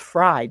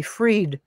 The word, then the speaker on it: Fried: Drena, because my last name is spelled Fried. So if you wrote, but we'd all rather be freed than fried, wouldn't we?